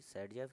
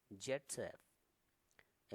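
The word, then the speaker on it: Zaitsev: तो सैडजेफ का नियम है, एक्चुअली सैडजेफ कौन है, ये एक रशियन केमिस्ट हैं जिनका नाम है अलेक्जेंडर जेटसेव। अलेक्जेंडर जेटसेव, जिनका नाम पढ़ा जाता है ऑल्सो प्रोनाउंस्ड, यानी कि इनका नाम सैडजेफ भी पढ़ा जाता है।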